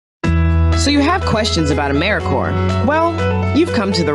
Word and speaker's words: AmeriCorps: say or spell AmeriCorps sometimes people pronounce the P but don't make that same mistake lirik or is